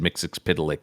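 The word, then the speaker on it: Mxyzptlk: I believe in his ability to make and there's any number of ways to pronounce it. I've always said Mixix Pitilik, but um it's a madeup silly word.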